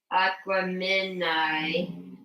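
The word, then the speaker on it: Aquemini: then you said um aquamen is pronounced like Gemini so aquam okay aquam minai by um Outcast um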